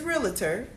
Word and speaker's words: realtor: no such where is realtor the word is re al t Oh arm so it's always pronounced realtor I emphasize the tort to make sure that people know the difference that's the only time